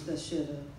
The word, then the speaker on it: Bathsheba: The first place he took me to was Bathsheba.